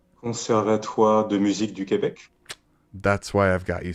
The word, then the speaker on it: Conservatoire de Musique du Québec: The Conservatory of Music in Quebec, but you would say it as? Conservatoire de Musique du Québec.